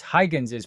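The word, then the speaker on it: Huygens: to know is called Hygen's principle. I checked the pronunciation. It's Hygens's principle.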